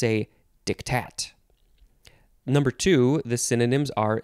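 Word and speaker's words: diktat: word pardon me dictat actually you emphasize the second syllable so it's dictat it's just d i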